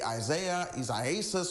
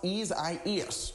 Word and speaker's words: Isaias: A lot of folks want to say Isaias or whatever. It's pronounced Isaias.